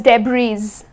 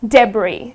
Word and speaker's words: debris: rubbish so it's debris I mean though it is spelled with an S but it's not pronounced as d'bries it is debris ok so it's that's